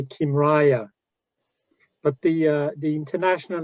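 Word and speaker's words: Kymriah: downloaded in the meantime regarding pronunciation i say kimraya but the uh the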